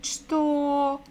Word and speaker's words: что: It is ch, ch, ch. So ch, t, o, что, это, что, это.